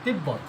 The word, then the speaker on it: তিব্বত: আর এটা কেন ব এখানে কিন্তু ব এর উচ্চারণ আছে। তিব্বত বত তিব্ব এখানে কদম কদ ম কদম এখানে ব ফলার উচ্চারণ হচ্ছে ব ডাইরেক্ট ব এর উচ্চারণ হচ্ছে।